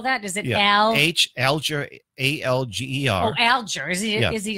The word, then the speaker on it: Alger: Can you spell that? Is it Alger, A-L-G-E-R.